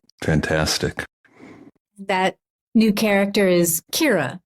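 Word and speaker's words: Ciara: Kira Dugen uh um her real name is spelled c i a r a uh Irish name um but she she began to spell it as it sounds because so many people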